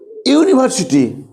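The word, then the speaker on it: university: দেখো তুমি যখন ইউনিভার্সিটি বলছো আর যখন আমব্রেলা বলছো, দেখো দুটোই তো ইউতে স্টার্ট, দেখো ইউনিভার্সিটি ইউতে স্টার্ট হচ্ছে, আমব্রেলা ইউতে স্টার্ট হচ্ছে, তাই তো? হ্যাঁ, কিন্তু উচ্চারণ কি আছে, ঠিক হচ্ছে? দেখো ইয়ের উচ্চারণ ইউর মধ্যে হচ্ছে, তাই তো?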